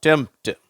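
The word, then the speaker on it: tempt: டெம்ப்ட். அந்த பீன்ற உச்சரிப்பு வரதில்லை.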